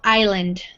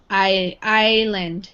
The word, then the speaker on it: Island: Island so this is the S is silent we don't say it Long Island Long Island yeah okay yeah right so the movie opens that means it starts so here we have mr.